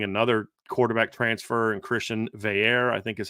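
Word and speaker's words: Veilleux: quarterback transfer and Christian Veer I think is how they I saw them say it's Christian Veer which doesn't at all look like how it's spelled he's a Penn State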